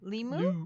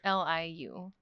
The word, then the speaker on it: Liu: Simu I think it's Limu. Liu. Limu? No, Li- it's Liu.